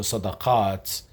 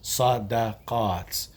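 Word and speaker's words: صدقات: So sadaqaat, many forms of charity, is pronounced with all fatha, all sounds, sadaqaat.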